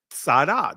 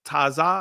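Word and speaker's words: צדי: Sadah, that's the ancient pronunciation of it. I know many would say Tazah.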